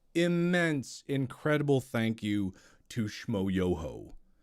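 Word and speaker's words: Schmoyoho: incredible thank you to shmoyoho accent on the yo where's the whole i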